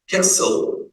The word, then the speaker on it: castle: castle T silent.